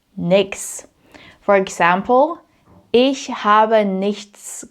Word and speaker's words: nichts: And nichts oftentimes just becomes nix.